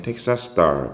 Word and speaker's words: Texas Star: 텍사스 스타인데 이게 SS가 붙죠. 그래서 발음하실 땐 텍사스 스타 붙여버리세요. 텍사스 스타.